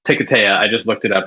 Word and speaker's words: Hiketeia: he does deny that's right yeah it is pronounced ticataya i just looked it up after fighting five